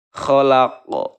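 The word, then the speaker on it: خلق: Oke, selanjutnya kholaq. Nah, ini adalah qalqalah kubro ya.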